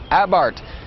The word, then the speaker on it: Abarth: with the fiat 500 abarth it spelled a be AR th but the H is silent and the a is pronounced ah as in what happened